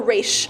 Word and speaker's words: Ra's: Is it Roz or Raish? I don't know. But I like saying Roz. How do you like to say it? I say Roz, but like the animated series was Ra's al Ghul. Oh, so, I see. Like, and then in the freaking Arrow series, they pronounce it both ways, so it's confusing. Oh, Yeah, some of them say Roz, some say Raish.